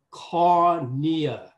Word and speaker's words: cornea: Thì đây về danh pháp, cái chữ này chúng ta phát âm là cornea. Cornea giống như là courier, giống như là Hàn Quốc phải không?